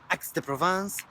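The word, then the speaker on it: Aix-en-Provence: So I was told it's pronounced Aix-de-Provence.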